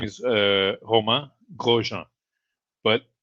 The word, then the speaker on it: Romain: uh his name is uh Homa Grojan but the name Homa is written in English he'll be read Roma so when when he